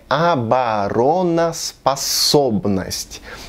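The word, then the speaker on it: обороноспособность: Bom, um desses os vai ser pronunciado como o e os outros vão ter som de a, certo? Não, a pronúncia é abaronas passobnost. Temos dois os sendo pronunciados como o.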